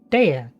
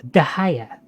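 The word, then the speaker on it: Dehya: I'm not gonna pronounce it properly first, but I pronounced her name Dea. The game pronounces it Dia. It's actually pronounced Dahaya.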